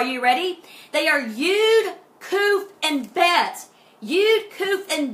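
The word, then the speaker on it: Qoph: Some spell it K-O-O-F, but Kuf is just koofy, okay?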